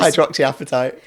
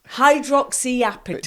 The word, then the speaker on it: hydroxyapatite: So say the name again for me, because I cannot pronounce this. Hydroxyapatite. Hydroxyapatite.